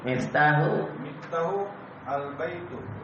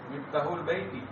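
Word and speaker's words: مفتاح البيت: Miftahu al-baitu. Miftahu al-bait. Bagus sih. Panjang. Miftahu al-baiti. Wasil. Dibaca kalau ketemu alif lam. Bagaimana cara bacanya? Langsung masuk. Miftahul baiti.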